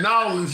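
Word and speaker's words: New Orleans: New York, uh, Miami, LA, uh, Texas, uh, Norins. Did I say that right? New. Yeah, Norins.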